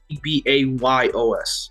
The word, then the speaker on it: Ceballos: So S, it's basically Sebayos because the L, two L's in Spanish is said as a Y, and then the C would be pronounced as an S in Spanish.